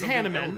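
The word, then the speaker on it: Hanneman: So his name is Hanaman. That's how everyone says it. That is the normal way to say his name.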